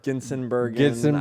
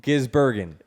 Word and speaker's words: Gisbergen: Because you said Gisbergen or Ginsenbergen. I said it a million different ways. It's Gisbergen. Yeah.